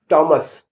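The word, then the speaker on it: Thomas: माने घंटा टी एच ओ एम ए एस टॉमस टॉमस जिसमें के साइलेंट होगा वैसे भी वर्ड बताने जा रहा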